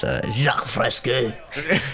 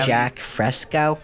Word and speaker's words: Jacques Fresco: Yeah, you're pronouncing it wrong. It's Jacques Fresco. No, but what are you talking about? I'm saying it the American way. But I would go meet see him. Jack Fresco.